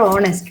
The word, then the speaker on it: honest: in these three words the first letter H is a consonant which is silent so you have to pronounce it as our honor or honest right so if H